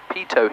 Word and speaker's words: pitot: Pitot heat. Remember? T is silent.